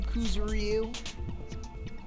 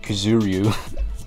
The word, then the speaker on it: Kuzuryu: Wasn't there another person whose last name was also Kuzuryu?